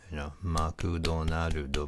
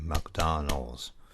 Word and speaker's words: McDonald's: what what's syllable is another good example is McDonald Oh makutano judo but it's actually McDonald's it's not five syllables by its three so if you learn